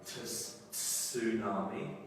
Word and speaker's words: tsunami: But I think to make it easier, I think we actually pronounce the word without the T.